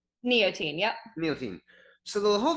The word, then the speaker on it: Neotein: Neotein.